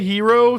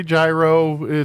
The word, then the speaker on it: gyro: Some say hero, some say gyro. I think hero is more of the traditional maybe thing.